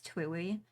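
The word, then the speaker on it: TWEWY: I do pronounce it kind of like Chewy.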